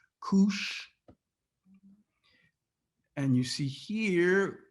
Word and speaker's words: Kush: down this name koosh you see how it's pronounced koosh and you see here kush equals what all right so whenever the bible